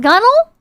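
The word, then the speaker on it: gunwale: five dollars done well is pronounced gunnel oh my God these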